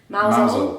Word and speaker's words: Mousehole: And then after that, we drove over to a town called Mousehole, but it's pronounced Mousehole.